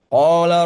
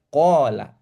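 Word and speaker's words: قال: Kalau bacanya dengan qala, dibaca dengan panjang, gitu ya. Tapi kalau kita baca dengan cara yang salah, panjang pendeknya, gitu ya. Kita baca dengan qala Rasulullah. Qala Rasulullah. Lamnya ditasydidkan ya.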